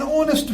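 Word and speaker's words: honest: Number third, an ऑनेस्ट fellow. H silent रहा, ओ dominant हो गया इसमें, एन ऑनेस्ट फेलो.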